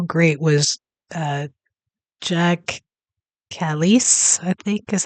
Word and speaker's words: Jacques Kallis: And this one is uh from Cricut Stories and it's just how great was uh Jack Callis I think is how you say it.